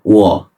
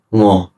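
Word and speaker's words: 我: Nah, saya, kalau di bahasa Mandarin itu wo. Dalam bahasa Kanton, ngo. Dan Hokkien, gua.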